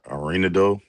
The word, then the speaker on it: Arenado: How you pronounce it? Yes, Arenado.